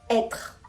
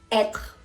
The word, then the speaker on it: être: Cuando la letra E tiene l'accent circonflexe, vamos a pronunciar esta letra como una E grave. Par exemple, fête, fête, fiesta, être, être, ser o estar, par exemple.